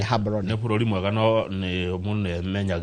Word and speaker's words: Gaborone: capital city yao ndĩgĩtwo Gaborone ti Gaborone go pronounce ni Gaborone nĩ bũrũri mwega no